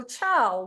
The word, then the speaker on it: Chao: So Chao, welcome. Hi everyone. My name's Chao. It pronounced like the Italian goodbye, Ciao, just in case you wonder.